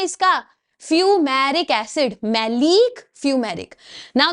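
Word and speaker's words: maleic: सिस है इसको बोलते हैं मैलिक acid. Look at the spelling M ए एल ई आई सी मैलिक acid.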